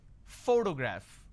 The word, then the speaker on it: photograph: pronounce this particular word photograph the correct pronunciation is photograph which means I am stressing on this particular syllable which is the first syllable please give me the